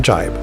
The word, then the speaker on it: jibe: This terminology correction comes from Tony Bodlovic, who says, "Your terms for tacking and jibing are correct, but you're mispronouncing jibe. The Y is the I sound."